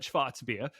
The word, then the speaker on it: Schwarzbier: going to happen like technically yeah you were going to be calling it schwarzbeer i'm not going to call it schwatzbia because i sound like